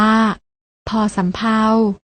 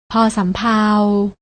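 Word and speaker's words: ภ สำเภา: พ พาน พยัญชนะ ตัว ที่ 2 อ่าน ว่า พ สำเภา ลอง ออก เสียง ตาม พร้อม กัน นะ คะ พ พาล พ สำเภา พยัญชนะ ที่ มี การ อ่าน ออก เสียง เหมือน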